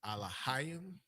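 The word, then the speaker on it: אלהים: The next word is Alahayim. You have your ah, your la, your ha, your ah, your la, your ha, and the yum.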